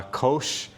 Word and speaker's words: Kosh: Uh Kosh in Sanskrit means treasure and it is spelled our product at least is spelled K O S H or K O S H as in sh.